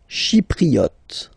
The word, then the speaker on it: Chypriote: Chypriote. She, remember this Y is pronounced like I, okay?